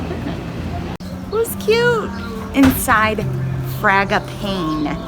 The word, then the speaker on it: Fragapane: it was cute inside fraga pain that's how you say it fraga pain i asked